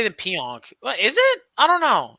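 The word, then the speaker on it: Pionk: the real deal Neil pian or pianon yeah pian is good The ron deon Neil pian. You got to say it the way I said it. You got to say it like your or peon. Peon.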